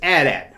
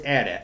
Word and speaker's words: AT-AT: But it's AT-AT. When I was a kid, it's always AT-AT.